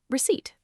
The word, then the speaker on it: receipt: Remember, it's proof of your purchase, and the letter P is silent, so we simply pronounce it receipt.